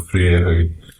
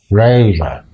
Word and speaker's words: Freire: People are not used to seeing the letters E-I in that order.